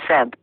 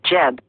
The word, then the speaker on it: Geb: to grow name the name was pronounced as such from the greek period onward and was originally wrongly read as seb the usual egyptian name was jeb perhaps the lame one it was usually spelled